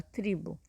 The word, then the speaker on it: tribo: é uma sílaba fraca, nós temos a tendência de falar o U no final, ao invés de falar o O. Então, observem, toda vez que essa última sílaba for fraquinha, igual aqui, ó, tribo.